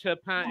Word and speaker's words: Turpin: And I know it is pronounced Turpin in French, but we all know the story of Dick Turpin, the notorious highwayman.